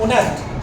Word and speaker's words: honest: इसी तरह से हमारे पास एक और लफ्ज है HONEST, ऑनेस्ट, क्या ऑनेस्ट, क्या ऑनेस्ट, एच लिखा जाएगा। अगर आप इसको यूं लिखते हो ONEST, ऑनेस्ट, गलत हो जाएंगे इसका। एच लिखा लाजमी जाएगा, लेकिन